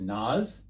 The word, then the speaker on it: Nas: I think it's pronounced Nas, N-A-S.